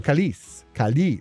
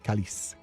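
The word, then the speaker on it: câlice: The E is silent. There is no accent on it. Okay. So calice. Okay, calice.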